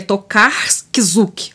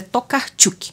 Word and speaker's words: Tokarczuk: esse sobrenome aqui tá que a gente se fosse lena no português um abrasileirado ficaria tocar kisuke mas é tocar tilke agora que tá começando